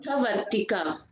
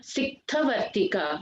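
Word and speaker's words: सिक्थवर्तिका: Siktha Vartika. Siktha Vartika. Siktha. Tha is the second tha. This one. Siktha Vartika. This tha should come. Yeah. Siktha Vartika.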